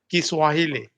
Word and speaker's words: Kiswahili: support Sahil Asia so Jaime how to say it so our healing so hiney so ideally kiswahili yeah that is the correct way of saying yeah okay so hi